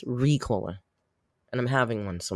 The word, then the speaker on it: Ricola: just said it right whoever corrected me in my comments I was putting the emphasis on the wrong syllable it's Ricola and I'm having one